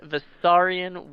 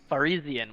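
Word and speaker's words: Varisian: Some of them smeared beneath the body and blood of a dead Visarian woman. Farizian woman. That's how you pronounce that.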